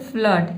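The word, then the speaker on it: flood: अगला वर्ड है फ्लड, ठीक है, इसमें भी हम अ पढ़ते हैं।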